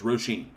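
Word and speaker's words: Róisín: Roisin. That's right. Roisin. Oh, okay, I got R-O-H, R-O-W, and Johnny told me R-O-E. All of them are pronounced Ro. So, Roisin.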